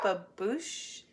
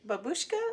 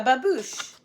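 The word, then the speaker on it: babouche: like, "Is that a babush babushka? What? Like what is that?" And she's like, "You actually said it right the first time."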